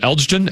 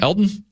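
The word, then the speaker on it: Elgton: Uh your guy offensive lineman, is it Elgen? Elton. I always say Elton. Elton. El G is silent.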